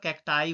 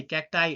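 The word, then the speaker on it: cacti: इसका plural कैक्टाई होता है। सी ए सी टी आई कैक्टाई it's correct pronounce is कैक्टाई okay datum okay datums नहीं होता डेटा होता है।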